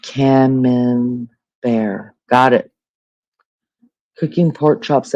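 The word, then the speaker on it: Camembert: It's pronounced camman. Cameman bear. Oh, lord. DJ, you have a t-bone and veggies ready to go. When I feel like pronounced cam bear got it cooking pork chops at Maggie and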